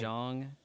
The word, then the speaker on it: Zhang: Um, TD, Lei Zhang, Lei Lei Zhang. Zhang. I think that's actually pronounced John, but yeah.